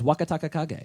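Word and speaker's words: Wakatakakage: Please take care Can of you all use my it in a pronunciation. sentence? New to the Juryo ranks is Wakataka Kage.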